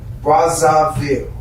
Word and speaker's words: Brazzaville: Brazzaville.